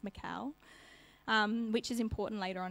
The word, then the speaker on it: Michal: It's spelt like Michael, but without the E, so I'm guessing it's Michal, which is important later on in the story.